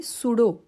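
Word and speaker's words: pseudo: use misguide पुढचा आहे सुडो पी एस यडीओ आता या प्रिफिक्स कडे जरा लक्ष द्यायच आहे जरी आपण उच्चार सुडो असला तरी त्याचा स्पेलिंग पी पासन आहे पी एसइ यडीओ तर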